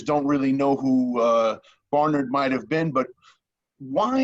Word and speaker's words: Bernard: it bernard bernard well the governor himself pronounced his surname barnard barnard and i know uh americans pronounce it bernard but use whichever version